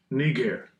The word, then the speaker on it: Niger: Now, anybody going off, right, and saying Niger, that's going off. Right? That's not how you say it. Go to the blue letter that you use daily and push the button. It's too simple. Strong's G 3526. Niger. Niger.